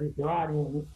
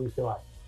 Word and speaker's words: Vigevani: Sí, es Dicevani, es muy italiano, entonces. Dicevani. Pero en castellano lo pronunciamos, en español lo pronunciamos mejor como Dicevani.